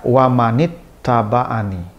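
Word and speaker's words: وَمَنِ اتَّبَعَنِي: Ada yanya dibacanya dengan mad panjang. Wamanani ada di Ali Imran ayat 20 itu ditulisnya dengan memotong yanya sehingga yanya gak ada sehingga dibaca lebih singkat, lebih pendek, lebih cepat.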